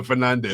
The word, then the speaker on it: Fernandes: They're like, why are you calling yourself Bruno Fernandes? Yeah. It is Fernandes. It is Fernandes. Yeah. That's how the Portuguese say it.